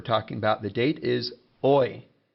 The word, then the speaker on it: hoy: Now, another useful word for talking about the date is hoy. Remember, the H is silent, so that's hoy.